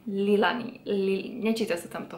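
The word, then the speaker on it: Leahlani: Ale je to Lilani? Lilani.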